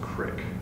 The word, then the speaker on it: creek: Oh, by the way, I will mention it's pronounced crick, not creek.